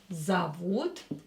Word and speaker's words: зовут: Ее зовут ее Алиса. Алиса. Ее зовут Алиса. Her name is Alisa. Ее зовут, again, O, not stressed, will be pronounced as A.